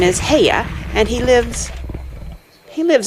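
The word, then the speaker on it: Haigha: does them when he's happy his name is heya he pronounced it so as to rhyme with mayer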